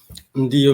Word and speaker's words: Ndiyo: How do you pronounce it? Ndio Media.